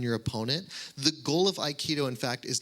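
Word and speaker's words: aikido: It's resonant of a martial art called iikido. It's spelled a i k i d o.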